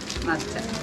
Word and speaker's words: matcha: matcha. Matcha. En japonés dice matcha. Matcha.